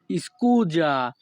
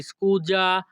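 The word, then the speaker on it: scusa: এর ইতালিয়ান ভাষা হবে স্কুজা এখানে এস এর উচ্চারণ হবে যা ইতালিয়ান ভাষা স্কুজা বাংলা অর্থ দুঃখিত পরবর্তী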